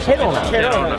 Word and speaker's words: Kelowna: I am in Kelowna Canada! That's how it's pronounced correctly? It sounded more like "Cologna" to me... The first people I met here in Kelowna this morning are 3 Japanese exchange students!!